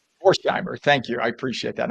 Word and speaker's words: Vorheimer: Sue, please help me with the pronunciation of your name. Is it Vorheimer? Vorheim. Vorheimer. Vorheimer. Vorheimer.